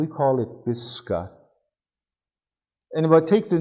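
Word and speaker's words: Pisskan: with their western word they'd spell it p i s s like piss and khan k a and stress over the a sounds like a you pisca this gun and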